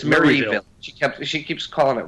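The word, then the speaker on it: Marieville: And well, according to me, in my ears, this person's hometown is constantly mispronounced by Lillian. Owens. Yep, it's Maryville. Maryville. She keeps calling it Maryvale or Maryville or something.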